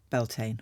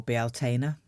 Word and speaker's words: Bealtaine: Here we are at my most favorite time of the year, Beltane or Bealtaine, depending on how you wish to pronounce it.